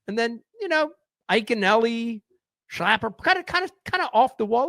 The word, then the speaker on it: Schlapper: I mean, it was like, and it's pronounced Schlapper, but a lot of people say Schlapper.